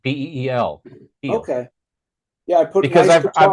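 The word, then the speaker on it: Pihl: How did you pronounce his last name? Peel, like a banana? I think it's Peel, like Peel.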